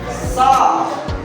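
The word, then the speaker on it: ص: Ini sha, bukan flo, bukan flo, bukan juga flo, bukan. Tapi ditahan di lidahnya.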